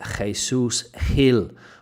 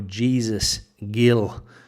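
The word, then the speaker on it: Jesús Gil: in the 1990s there Mr Jesus Hill or Jesus Gil if you want to use the English pronunciation of his name first comment Rick two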